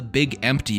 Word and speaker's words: Big MT: need to cross the Big Empty and grab it. Little fun fact I learned, it's called the Big Empty because morons pronounced Big MT, like Big Mountain as Big Empty.